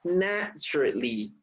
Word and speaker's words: naturally: this word has only 3 syllables. Okay, naturally. Okay, no 4 syllables. You don't say naturally. Naturally.